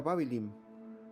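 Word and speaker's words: Bāb-ilim: Babilonia la palabra proviene de la lengua Acadia y se pronuncia babylin que significa la puerta de Dios fue un antiguo estado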